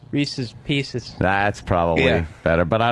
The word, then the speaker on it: Reese's Pieces: Did I say it like that? Yeah, you said Reese Pieces. It was Reese's Pieces.